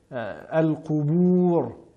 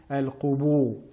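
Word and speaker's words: القبور: Nous avons souvent tendance à les entendre prononcer de manière emphatique al-qubur, mais bien al-qubur et as-sudur et non as-sudur.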